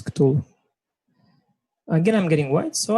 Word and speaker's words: Cthulhu: Or how do you pronounce it in English? It's Cthulhu.